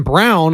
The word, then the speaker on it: Braun: All these guys, hell, you got rookie Christian Brown, although it's spelled Braun, it kind of bothers me.